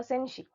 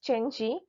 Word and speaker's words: Cenci: Shelley's The Senshi. So, its full title is The Senshi, a tragedy in 5 acts, 1820. Actually, it's pronounced Chenchi.